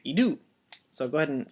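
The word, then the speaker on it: ἰδού: we're going to speak with an upward inflection. So we'll say idou instead of like idou or idou. We have to say idou.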